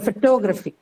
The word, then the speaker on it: photography: in the first syllable the stress was in the first syllable you added a suffix y to it the Special now change to the second syllable which is true so photography photograph photography right these